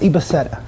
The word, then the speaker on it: Ibaseta: The name's actually pronounced Ibaseta.